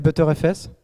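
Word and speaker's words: Btrfs: C'est X4 et ButterFS. Ça se prononce vraiment comme ça.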